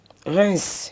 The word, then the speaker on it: Reims: Reims. Reims. Oui, on dit Reims. On ne prononce pas le M, on dit Reims.